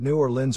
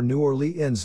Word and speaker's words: New Orleans: Depending on their ethnic or geographic background, most locals pronounce it New Orleans or New Orleans.